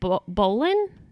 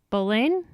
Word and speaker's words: Boleyn: said about her but it is Anne Boleyn bullying is that how you're pronouncing it last name bullying bullying okay so she